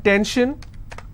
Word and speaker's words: tension: gore s-i-o-n tension pension so how many syllables in tension two ten shin i will stress on ten if i have pension